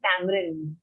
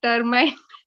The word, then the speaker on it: tamarind: And also pronunciation of tamarind. Tamarind. Tamarind chutney for dinner. Okay, I said termite.